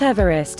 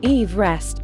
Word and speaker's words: Everest: in honor of Sir George Everest and therefore should be pronounced Eve rest not Everest as per the pronunciation of the British surveyor's surname Everest was originally named